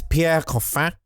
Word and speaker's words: Pierre Coffin: voices all the Minions I'm sorry it's Pierre cof and I will not hear it any other way for the rest of